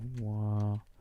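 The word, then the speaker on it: は: So this might be a What is the Wait, what is I do What is the difference between wa and In short, ha is generally pronounced wa while wa is used when wa is used a normal syllable in a word.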